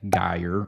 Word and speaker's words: Geyer: So Lindbergh Boulevard, Clayton Road, and then this is how you pronounce them. Spady and Geyer are the other 2.